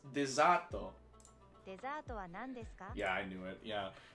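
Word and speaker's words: デザート: word in the Japanese call it boxes it's pronounced dezato yeah I knew it yeah because they have to use their own alphabet to make other words like for us so I could literally I would hear dizat I believe I'm speaking Japanese like Cali uh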